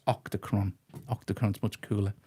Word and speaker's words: Octachron: It's Octachron.